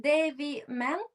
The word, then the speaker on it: Devy Man: power of inclusive expression is do am I pronounced correctly? Dave man.